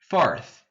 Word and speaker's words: fourth: Para virar quarto, fourth. Coloca o TH. Tá bom? Professor, como é que pronuncia esse TH? Língua no meio do dente e daí você assopra, Fourth, fourth, fourth.